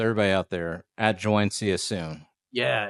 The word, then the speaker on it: CYA soon: All right, so everybody out there, at join, see you soon. Yeah, it's spelled like you're texting someone, CYA soon.